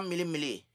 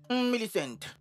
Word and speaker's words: Millicent: Tata Mili Mili. Mon nom, c'est Millicent. Alors prononce-le bien cette fois. Millicent.